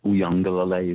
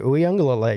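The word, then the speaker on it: Uiagalelei: Uyangalele, is that correct? That's right. Uyangalele.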